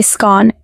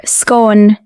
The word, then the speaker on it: scone: In Scotland and the north of England, most people say scone, rhyming with gone. Further south, you'll hear scone, rhyming with own.